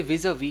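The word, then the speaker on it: vis-à-vis: चलिए गैस, हम बात करेंगे सबसे पहले विज अ वी की। विज अ वी, हम लास्ट में एस है बट प्रोनाउंस नहीं करेंगे, विज अ वी।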